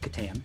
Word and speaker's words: Catan: about uh settlers of katan which is how i say it like chris katan some people say catan i don't know how